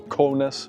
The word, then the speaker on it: Kaunas: Estamos en una ciudad llamada Kaunas, si se pronuncia bien. En el mapa me dice Kaunas, la gente de aquí la pronuncia como Kaunas.